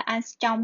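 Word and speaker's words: ångström: Cái này đọc là angstrom nhé.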